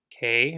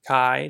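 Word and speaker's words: καί: It says this word, K or Kai, depending on how you want to pronounce it. It doesn't really matter. It's been translated as then to indicate the implied sequence of events within the narrative.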